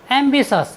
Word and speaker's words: ambitious: टी का नियम number 2 है, यदि किसी वर्ड में टी के बाद IOUS आए तो हम टी का उच्चारण सस करते हैं। जैसे AMBITIOUS, एम्बिशस।